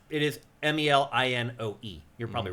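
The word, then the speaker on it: Melinoë: Yeah, usually in ancient Greek stuff, you pronounce each vowel separately. You're right, actually. And it's it is Melinoe.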